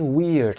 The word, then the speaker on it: weird: سینونیمش رو هم اینجا ببینید، علامت SYN یعنی سینونیم، مترادفش کلمه weird هست. weird به تلفظ و سپلینگش هم دقت داشته باشید. ما معمولا دیدیم که IE میذارن بچه ها، باید WEIRD بذارید.